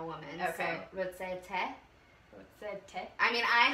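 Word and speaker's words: תה: How do you say tea?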